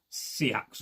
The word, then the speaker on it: seax: show off in another video, a much longer Seax or seax, depending on how you pronounce it.